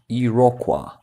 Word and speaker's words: Iroquois: Iroquois. Pronounced Iroquois. I didn't know that. In here in Ukraine, we say Irokez.